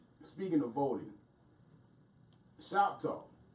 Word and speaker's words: NShopTalk: Speaking of voting, ShopTalk. The spelling of it is NShop capital TALK, but the N is silent, and we'll leave that there.